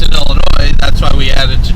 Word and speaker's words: Illinois: They don't know that the S is silent, so why? Yeah, just like the Jewels. The Jewels. No, and the saying is, we don't pronounce the S in Illinois, that's why we added to Jewels.